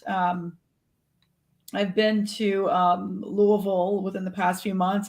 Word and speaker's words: Louisville: forward to that um i've been to um louisville within the past few months and going back